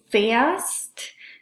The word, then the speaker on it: fährst: So it's ich fahre, du fährst, er fährt, sie fährt, es fährt, wir fahren, ihr fahrt, sie fahren. So it's an A versus an A umlaut.